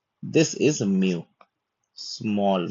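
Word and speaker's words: μ: इसका उच्चारण होगा म का। ठीक है? जैसे कि मदर में जो म आता है, एम आता है वो है म्यू का उच्चारण।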